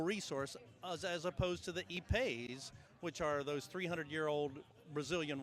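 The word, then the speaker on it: ipe: I guess this would be similar to E-Pay, which is spelled I-P-E.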